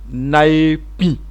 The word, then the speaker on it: naepi: Alors comme on dit ça en Wobé, on dit naepi. Je reprends lentement. Naepi. Les Wobé nasillent légèrement.